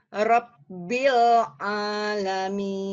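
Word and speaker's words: ربّ العالمين: oke Ya sudah betul tapi melebur Bu ainnya melebur dengan lam sehingga didengarnya ginibb kayak mau ngambil ya berasa enggak Bu Heh dicoba lagi rabbil coba RAB rabbil alamin ya di ini dulu ya ditekan dulu Bu ya rabbil ya Bil bersih bersih dari Ain oh oh I rabbil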